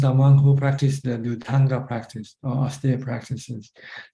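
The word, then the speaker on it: Dhutaṅga: Pali pronounced Dutanga, but in Thailand we shorten it to Tudong.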